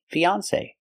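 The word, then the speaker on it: fiancé: and off F fiance with a long a like say or pay say Fon fiance example this is Mark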